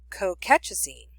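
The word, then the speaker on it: colchicine: they use high dose NSAIDs but they use cocatchazine cocatchazine and I'll spell that for you it's c-o-l-c-h-i -c-i-n-e it's an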